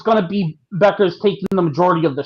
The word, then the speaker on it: Bueckers: She's got a U in that name and it keeps making me want to say Bueckers and I'm like Yeah.